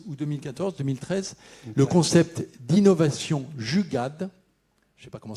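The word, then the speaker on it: jugaad: Vous avez popularisé dès 2013 ou 2013 le concept d'innovation Jugad. Je ne sais pas comment ça se prononce.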